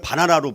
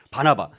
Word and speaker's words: 바나바: 그래서 하나님은 친히 이 바나바, 잘못하면 바나나로 발음을 하게 되어지더라고요. 바나바를 바나나라고 하지 말고 우리 바나바.